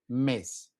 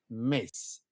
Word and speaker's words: mes: No, it's not mess. Mace. Mace. All right. Kind of like mace that you spray. It's kind of like thinking about that mace.